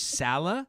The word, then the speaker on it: Saleh: time i've known you did you say it was it was salah is that how you pronounce it that's as close as you're going to get let me try again okay yeah okay the hat is very very difficult for people for non-native uh arabic speakers okay well i'm